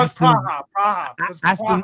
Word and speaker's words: Praha: I don't even know how to pronounce the second name, but Sparta Praha. Is it Praha? Yeah, I can't read that. Yeah. That my dyslexia. No, it's Praha.